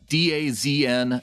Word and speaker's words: DAZN: bowen says hey boys d-a-z-n streaming service pronounced dazn all teams live no